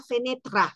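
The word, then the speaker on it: fenêtre: del italiano por supuesto pero decía Acércate la fenetra fenetra O sea para ellos penetra es ventana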